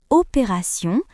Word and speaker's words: opération: Dans le mot opération, T se prononce S.